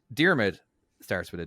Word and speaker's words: Diarmuid: It's more pronounced like deer, mid, Diarmid.